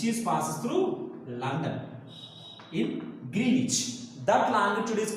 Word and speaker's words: Greenwich: So they have taken 0 degree longitude which is passing through England, Greenwich.